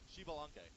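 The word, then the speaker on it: Xbalanque: Shibalanke.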